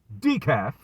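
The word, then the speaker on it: DICAF: So, DEKAF, in case you need the definition, DEKAF, pronounced DEKAF, is an acronym coined by boxing YouTuber Dante Williams.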